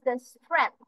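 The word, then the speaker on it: strength: class তাহলে হু is your teacher what is স্ট্রেন্থ এখানে pronunciation খেয়াল করবো আমরা এখানে জি যেটা ওয়ার্ডটা আছে এই অ্যালফাবেটটা আমরা প্রোনাউন্স করছি না সরাসরি টি এইচ টা উচ্চারণ করছি স্ট্রেন্থ এন এর পরে টিএইচ উচ্চারণ হচ্ছে স্ট্রেন্থ অফ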